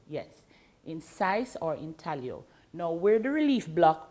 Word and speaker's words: intaglio: block printing in italio it's spelt intaglio but pronounced intaglio yes in size or intaglio no we're the relief block where the ears